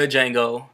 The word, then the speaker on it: Django: time is Django Unchained not the Django y'all y'all heard uh y'all seen the preview man the D is silent um I mean Jamie